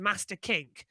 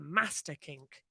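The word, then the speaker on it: Masta Kink: you usually say master no because the actual pronunciation of it at spa was the master kink it's weird hearing you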